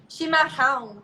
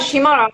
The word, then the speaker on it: chimarrão: Well, like the double R is like a H sound, so it's like chimarrão, but they like it's hard chimarrão.